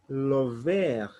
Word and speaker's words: le vert: So we'll say le vert, le vert. Don't pronounce the last letter. We'll say le vert. R, we pronounce it like KH. So it is le vert.